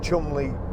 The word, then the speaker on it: Cholmondeley: I was lucky enough, again, Ford invited me to, well, it's spelt Cholmondeley, but I think it's Cholmondeley Castle, and they invited me there to drive the new Ford Fiesta when it came out.